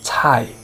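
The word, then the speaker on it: 菜: C is not pronounced as in cat, k. Instead, it is pronounced as cai, cai, means vegetable, very important word.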